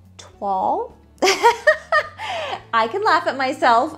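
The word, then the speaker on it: toile: try to say it right it is called twal i can laugh at myself i didn't know how to pronounce it i knew what it was but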